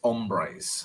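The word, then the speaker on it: hombres: up um okay don't pronounce the H in Spanish so it's ombres okay ombres amigos yeah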